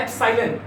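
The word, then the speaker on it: epsilon: Electric permittivity बेटा, इसका pronunciation है एप्सिलॉन।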